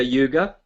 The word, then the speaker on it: Yuga: and so um Satya Yuga or yug it's actually it's actually pronounced yug um and then yeah